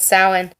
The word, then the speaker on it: Samhain: I did look up how to pronounce this correctly. It is Samhain.